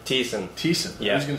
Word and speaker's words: Thiessen: Thiessen.